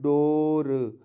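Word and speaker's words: door: अब एक जगह एक वर्ड आता है डोर, इसमें हम डबल ओ की जगह पर सीधे सीधे हम ओ का उच्चारण करते हैं।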